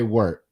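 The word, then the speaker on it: wort: I say I think I say it more like w-e-r-t yeah when I pronounce it I say work I believe that's acceptable as a as opposed to wart yeah wart like that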